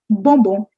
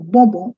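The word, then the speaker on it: bonbon: the three words here the first word is bombo bobo what is bobon bobo is toffee tuffy that we eat sweets toffee that's a bombo in french try spelling this i put it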